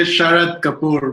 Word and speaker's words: Sharad Kapur: I am joined by Sharad Kapur, right? That's how you say it? Yeah, I say Sharad Kapur, but you're pretty close.